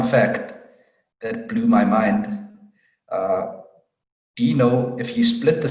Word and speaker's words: Deno: Deno, if you split the syllables, like Deno, if you remember the syllables from primary school, Deno, and then if you just flip the syllables, it makes Node.